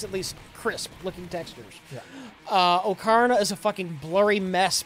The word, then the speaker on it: Ocarina: Ocarina.